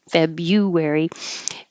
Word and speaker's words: February: too correctly here January February usually the U changes to Y Jan and Feb forget about the r after the B um most people forget